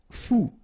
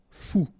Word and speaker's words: fou: Fou. Combination of O and U. Ou. Fou.